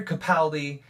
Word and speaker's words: Capaldi: he is going to be phenomenal it is pronounced Capaldi by the way I found out um I